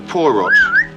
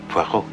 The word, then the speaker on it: Poirot: a parot of Mr porot pu it is pronounced PUO I beg your pardon